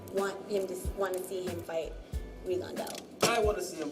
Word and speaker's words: Rigondeaux: He pronounces it Rigondeaux. I like to say Rigondeaux. Most people say Rigondeaux.